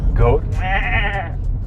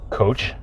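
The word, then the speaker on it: 꽃: Goat. Oh, goat. Ah, Goat. ah, cool. CH as the last consonant of the syllable sounds like D by itself, obviously.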